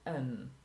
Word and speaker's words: an: I am a teacher when we cannot pronounce it before the pronounced vowel then we say an I have an apple